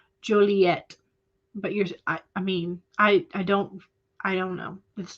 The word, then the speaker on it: Joliet: Eva says, I've only ever pronounced with a hard T, Joliet.